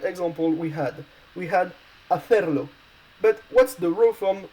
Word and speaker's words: hacer: And hacer is a word that's ending with a consonant, so it's stressed on the last syllable.